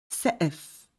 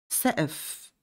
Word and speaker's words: سقف: Ceiling سقف. سقف. Note here letter قاف Q is silent.